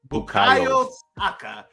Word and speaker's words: Bukayo Saka: How do you pronounce his name? Bukayo Saka.